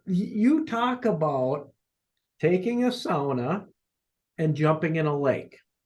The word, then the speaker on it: sauna: got a shot at helping SAA be pronounced SAA here in the US I think hey folks